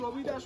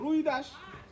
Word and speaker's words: রবিদাস: ওনার আসল নাম রবিদাস হলেও কেউ কেউ আমাদের বাংলার এদিকে ডাকে রুইদাস, আবার কেউ ডাকে রুহিদাস, আবার কেউ ডাকছে রামদাস, কেউ ডাকছে ঋষিদাস, কেউ ডাকছে রায়দাস, আবার কেউ ডাকছে খৈদাস। এরকম বিভিন্ন নাম উচ্চারণের ভেদে ওনার নাম পরিবর্তন হয়ে গেছে।